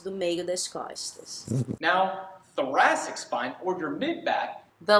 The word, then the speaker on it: thoracic: É com TH, TH. Então, se fala thoracic. Thoracic. Tá? Tem que colocar uma linguinha aqui.